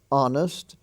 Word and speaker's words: honest: consonant you could say is silent in such words as our h-o-u-r like what hour is it we spell h o u r honor he's on the honor roll h-o-n-o-r honest h-o-n-e-s-t the H is silent there ghost g-h-o-s-t ghastly g-h-a-s-t-l-y